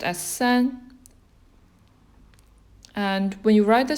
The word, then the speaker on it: 三: It's pronounced as san.